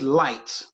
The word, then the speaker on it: light: with, you know, like, how does light have GH in it, but you don't pronounce the G and H?